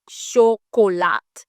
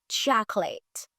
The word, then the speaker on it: chocolate: Et dernier mot nous souvent mal prononcé, c'est chocolat. Non. Yo pas dit chocolat. Yo dit chocolate. Chocolate.